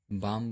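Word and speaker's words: balm: और यम से पहले, अब यहाँ देखिए यम से पहले यल आया हुआ है, तो इसको भी हम प्रोनाउंस नहीं करेंगे, काम बोलेंगे, बाम बोलेंगे, पाम बोलेंगे।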